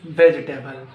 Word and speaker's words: vegetable: No, it's not vegetable, it's vegetable. Vegetable. Another one.